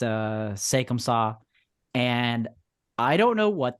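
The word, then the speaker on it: C'est comme ça: it's uh it's a French title uh it's pronounced uh sakum saw and I don't know what they're doing but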